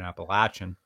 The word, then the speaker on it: Appalachian: with the Appalachian Trail excuse me the correct pronunciation Appalachian with that every single Canadian that hikes the